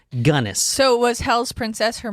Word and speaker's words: Gunness: and from everyone cuz I actually looked up how to pronounce her name and that's what everyone else says her name is so I guess that's it gunnis so was hell's princess